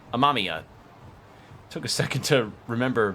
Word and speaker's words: Amamiya: That's right, Amamiya. Took a second to remember how that's pronounced.